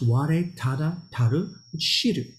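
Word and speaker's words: 吾唯足知: And it's pronounced Ware Tada Taru Shiru, which we could translate as all I need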